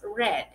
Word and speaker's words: read: Y read, que por lo que vemos acá, se escribe igual, pero se pronuncia diferente. En presente es read y en pasado es red. Red, como si estuvieses diciendo el color rojo.